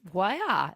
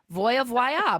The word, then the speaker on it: Voie: It's Voya. Voya. Because everybody looked, it's spelled V O I E.